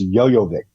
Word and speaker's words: Jovovich: know reiterate them to give you the actual pronunciation of her name if you let me know alright fine no go ahead go ahead Mila yo yo Vic its yo yo Vic okay which doesn't sound